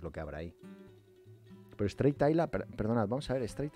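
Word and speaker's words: Strathisla: Bueno, se escribe Straight. O sea, si lo queréis buscar, es Stratisla, ¿vale?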